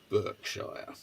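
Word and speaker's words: Berkshire: f word I'm I'm using the American pronunciation Burkshire I Burke would say Burkshire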